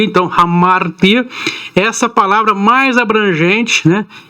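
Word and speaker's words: ἁμαρτία: gregas para pecado ramar-te vamos usar esse i o português chia né tia no grego será a pronúncia mas adequada seria o ti então amar ter essa palavra mais abrangente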